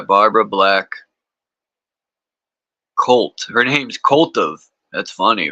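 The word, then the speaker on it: Koltuv: of Lilith by Barbara black Colt her name's CV that's funny right but it's spelled k o l tuu v Co C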